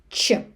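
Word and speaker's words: ч: First one, letter che che You can hear this in English in the word check and teacher.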